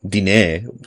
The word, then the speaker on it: Diné: Diné. There's a little e. There's a little accent on the e.